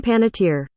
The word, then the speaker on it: Panettiere: do you um can you say pronunciation uh pronunciation hey done pan not here Let's uh press play here Hayden Panettiere it's here oh it's that easy Hayden Panetta